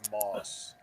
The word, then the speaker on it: Maus: retired navy guy so he says moss okay because he's got a lot of self-respect for me mouse just work actually mouse is the actual pronunciation of m-a-u-s so yeah that's why